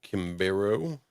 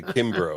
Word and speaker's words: Kimbro: And then Art Kimberu.